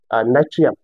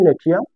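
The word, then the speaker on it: Natrium: Sodium হচ্ছে নাইট্রিয়াম। Sodium হচ্ছে নেট্রিয়াম, যেটা উচ্চারণ হয় নেট্রিয়াম, এবং এটা চট্টগ্রাম বোর্ড 2024 এসেছে।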